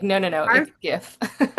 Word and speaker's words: GIF: to say I love that you say it gif because that's how I say it too. Even though the creator is like, "Oh, it's GIF." I stubbornly like, "No, no, no. GIF."